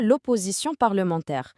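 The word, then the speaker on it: l'opposition: البرلمانيه بالفرنسيه كنقولوا لها لوبوزيسيون سمعوا النطق مزيان لوي نعاودوها مره اخرى والثاني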